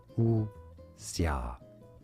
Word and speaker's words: wuxia: Pronunciation is as u xia. Wuxia. Xia. U as in W-O-A.